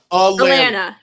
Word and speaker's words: Alana: I think it's Elena. Alana. Like Atlanta, but Atlanta, but it's not Atlanta. It's Alana.